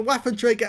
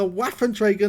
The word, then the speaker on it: Waffenträger: so-called waffle Panzer for it's a waffenträger not a waffle well yes it is buff and Traeger means weapons carrier and at least I believe that's the correct pronunciation for it he actually got a